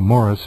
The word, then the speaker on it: Maurice: He pronounces it, as we both know, Morris, but nonetheless, yes, he's free to pronounce it any way he wants.